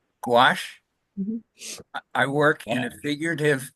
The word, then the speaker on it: gouache: on paper and G is that pronounced go gouache gouache I work in a